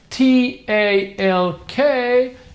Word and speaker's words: talk: but I'm gonna review all right they wore t ALK you don't pronounce tile no you don't that is incorrect